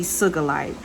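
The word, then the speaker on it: sugilite: cigalite so one of the crystals would be sugalite and i'ma spell that for you is s-u-g-i-l-i-t-e next let's talk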